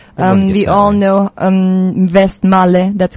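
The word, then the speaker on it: Westmalle: the trapist Abel um we all know um vest Mal that's correct too right all maybe it's uh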